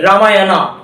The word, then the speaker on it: Ramayana: কিরকম প্রপার নাউনের ক্ষেত্রে দু ধরনের উচ্চারণ? ধর আমরা ইংলিশে লিখলাম RAMAYANA, রামায়ণা বলা হয়, বাংলায় যেটাকে রামায়ণ বলি আমরা, রামায়ণা বলা হয়, আবার অনেকে চাইলে রামায়ণ বলতে পারে।